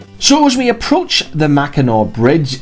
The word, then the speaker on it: Mackinac: mackinac bridge and not the mackinaw bridge while pronounced the mackinaw bridge we were left wondering the same thing